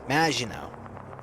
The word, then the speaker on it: Maginot: Maginot. That's the proper way to pronounce it.